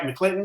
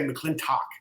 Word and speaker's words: McClinton: Did I say that right, McClinton? You said it right, man. Yep. For some reason, I keep wanting to say McClintock. So I know. My whole life, man, I've had McClintock.